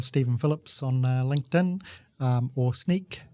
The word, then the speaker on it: Snyk: Just look for Stephen Phillips on LinkedIn, or Sneak, which is spelt SNYK.